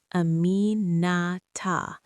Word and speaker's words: Aminata: 4 syllables, the emphasis on the second, drawn out slightly at the end the way someone speaks a name when they're not calling but acknowledging. Aminata.